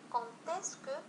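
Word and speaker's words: quand est-ce que: نفس الشيء بالنسبة لي لي كونتيسكو، عندما تسمعون السؤال يبدأ به كونتيسكو كونتيسكو، إذا دائما نقوم بلا ليزون بين كون و اسكو كونتيسكو.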